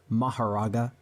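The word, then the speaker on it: Mahoraga: Alright, so since Seth is pushing 50 and is losing his ability to speak properly, he asked me to pronounce a name for him, specifically Maharaga, also known as Makora, but no one calls him that.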